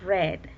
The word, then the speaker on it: read: read book en pasado se escribe exactamente igual pero se pronuncia diferente siempre enuncia red hay red bull yo